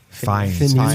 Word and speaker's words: Fiennes: Fiennes. Ralph Fiennes is how you pronounce Phineas. that. It's not Phineas.